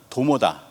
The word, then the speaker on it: 동명: 동명은 도모다, 두막은 도모다라고 하는 부분인데요. 동명을 도모라고 읽습니다. 도모라고 읽는다는 거죠.